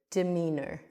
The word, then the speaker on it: demeanor: That's when your demeanor duh, we have the duh, sort of like a neutral sound again, even though it's an e d will have more of a neutral sound. So, we can flow through the word demeanor.